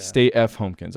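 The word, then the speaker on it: Stay F. Homekins: Stay F Homekins. Yeah. Stay F Homekins.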